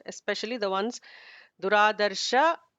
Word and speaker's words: दुराधर्ष: Duradarsha is ignore the visarga.